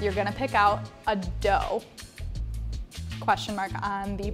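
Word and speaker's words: doux: So brut is the dry and doe or D-O-U-X is the sweet.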